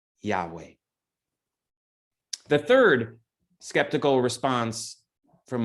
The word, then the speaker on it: Yahweh: y h w h no vowels were indicated in hebrew at this time so there is some debate on how to pronounce that name but most conclude it is yahweh the third skeptical response